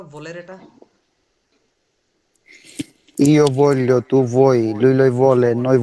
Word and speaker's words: voglio: উনি এখানে বলতেছে ইও ভোলিও, ভোলিও, ভু এর মতো উচ্চারণ করতেছে, ভ, ভয়ের মতো। আর আপনি বলতেছেন কি ইও বলিও, বয়ের মতো।